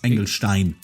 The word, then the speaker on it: Engelstein: He can't even pronounce his own name right. It's Engelstein.